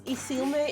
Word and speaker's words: Isilme: But if you try to pronounce the name that I'm actually putting on my channel, it's Isilme, and C&D stands for